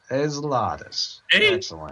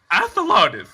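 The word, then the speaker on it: Athelardis: i can describe it ezlatus no athalatus is how you pronounce it when it's spelled the letter a the word the and then lardis that's my name is i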